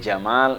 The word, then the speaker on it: Jamal: apa yang pertama Al Jamal Al Jamal itu artinya keindahan Jadi kalau ada orang namanya Jamal itu artinya Indah keindahan tapi syaratnya mimnya yang panjang Jadi kalau panggil Jamal eh Jamal harus panjang namanya kan Jamaludin Nah